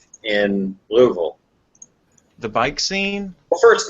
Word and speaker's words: Louisville: Put a golf ball in your mouth and try to say it.